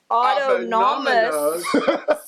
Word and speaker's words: autonomous: you say that auto oh auto nominus no it's not numbing this there's no n at the end autonomous sensory meridian response often